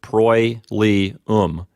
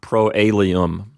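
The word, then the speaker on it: proelium: of the second declension notice that the O and the E are pronounced together as a diphthong so it's pro li oom not pro a Liam it's three syllables pro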